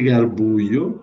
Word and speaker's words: Garbuio: E ele sante garbuio, lembrando que o J italiano se pronuncia como I Garbuio.